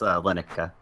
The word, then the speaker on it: Llennoca: It's Llennoca. He's like, Llennoca, named after my priest main.